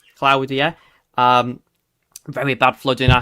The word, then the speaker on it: Claudia: There was that really bad um flooding yesterday from Storm um Claudia, which is how you pronounce it. Not Claudia, Claudia.